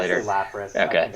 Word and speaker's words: Lapras: I still don't know how to pronounce that 20 years I say later. Lapras. I Okay. think it's Lapras.